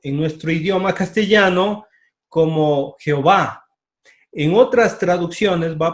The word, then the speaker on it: Jehová: ya ver por qué porque es imposible pronunciar y el h w entonces se agregaron vocales para que nosotros podamos pronunciar y es una combinación lingüística para que nosotros digamos jehová hoy a ver los